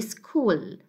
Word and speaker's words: school: So this one is not sa, it will be sa, and this one is ka, okay? So sa plus ka, it will be school, okay?